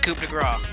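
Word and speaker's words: coup de grâce: Why is it grace? It should be coup de grace. Why is there a C? And that's how it's always spelled. And we just pronounce it coup de grace.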